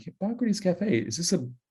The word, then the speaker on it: Hippocrates: Trouble is, most of the public does not know how to pronounce Hippocrates. And if you were to guess how they mispronounce it, if you think it's hypocrites, you are correct.